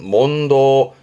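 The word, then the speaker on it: 問答: 발음은 몬도 이래서 어렵습니다. 여긴 땡땡 붙어요.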